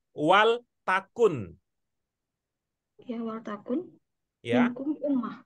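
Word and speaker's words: وَلْتَكُن: Waltakun minkum ummah. Waltakun minkum ummah. Ya, jadi cara membacanya adalah wal takun.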